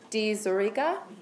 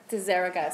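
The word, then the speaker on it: diZerega: with your name Margaret D zurica please say it correctly deserica so I just totally said it wrong um is the director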